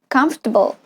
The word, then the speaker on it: comfortable: word with three or more syllable and unstressed syllable can disappear here is an example comfortable comfortable comfortable can you hear what's happening the